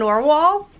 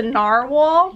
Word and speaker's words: narwhal: I saw the dolphins I saw an oar wall and an arrow do I say it wrong yeah you say no walls a narwhal yes and mer me and